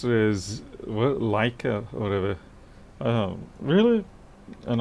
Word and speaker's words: Leica: that you tend to make up your own pronunciations for many things like a it's leica hmm do you like her hey city this